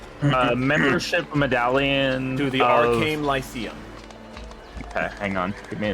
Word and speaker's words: Lyceum: Google for the win. Lyceum. I mean, it's spelled exactly how it sounds, so I mean.